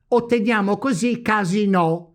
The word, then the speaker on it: casinò: of word Step three: let's build the second word, by placing now the tonic accent on the second vowel, the I of Imola. We get thus: CASINO, which is PIANA type of word.